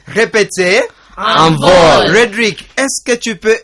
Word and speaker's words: envol: Envol. Répétez. Envol. Roderick, est-ce que tu peux épeler le mot envol? Can you spell it?